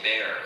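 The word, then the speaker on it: Bexar: Y'all say bear and I forget it's spelled B E X A R.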